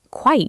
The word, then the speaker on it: quite: Quite usually means fairly, rather, or completely, depending on context. Quiet has 2 syllables. We say quiet. Quite has 1 syllable. It sounds like night.